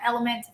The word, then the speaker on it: LMNT: relight from redmond's and the element lmnt is how it's spelled i think all of